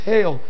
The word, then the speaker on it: hal: Holy in Old English dates back to the 11th century from H-A-L, pronounced hail, meaning whole.